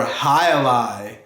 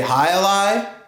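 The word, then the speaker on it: jai alai: is one of my favorites J is for hi Ally can you say hi Li hi lie is a game that's played in Spain and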